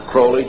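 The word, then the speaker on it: Crowley: have his name pronounced crowy to rhyme with holy and uh the Satanist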